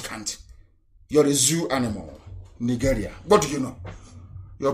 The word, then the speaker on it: Nigeria: Unless Nigeria ceases to exist. As long as Nigeria, that's the proper pronunciation, not Nigeria is the phone, Nigeria. It sounds a bit, okay. The proper name is Niger area, Nigeria.